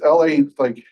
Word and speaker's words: Laguerre: I never know how to pronounce the name. It's Laguerre. UERE, something like that.